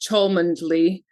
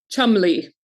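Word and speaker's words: Cholmondeley: And there was a surname in there that I'm sure I pronounced Chundly, which is actually pronounced Chumley.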